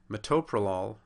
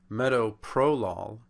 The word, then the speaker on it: metoprolol: atol metformin becomes metaformin metoprolol becomes meow prolol and simvastatin becomes sasan